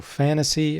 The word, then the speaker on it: Phantasie: you're interested it's called it's spelled with a p PHA and tas ie so fantasy and then it's got